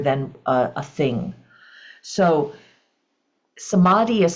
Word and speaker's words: Samadhi: spectrum um rather than a a thing so somadi is spelled s m a DHI and the first